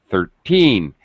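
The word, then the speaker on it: thirteen: the stress is Um, the word stress is on teen 13. It's higher pitch. It's stretched. It's a little longer sound. 30 30 e. The second syllable, the pitch goes down and it's very fast.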